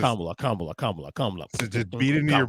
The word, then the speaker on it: Kamala: Like just Kamala.